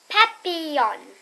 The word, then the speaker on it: papillon: You say it like this, papillon.